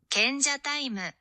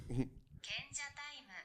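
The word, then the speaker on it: 賢者タイム: Kenja taimu. That's what I meant. That's kenja time. Kenja taimu. Say it like the girl did. Kenja taimu.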